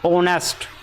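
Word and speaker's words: honest: ले ये क्या होता इसमें एच हमारा साइलेंट होता है तो यह बनता ऑनेस्ट और ऑनेस्ट की स्थिति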